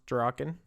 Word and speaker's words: Draken: I think it's pronounced Draken. It's actually pronounced Draken.